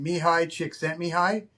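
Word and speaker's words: Mihály Csíkszentmihályi: His name's It's pronounced a Czechoslovakian name, but it's pronounced Mihaly Csikszentmihalyi. Mihaly Csikszentmihalyi.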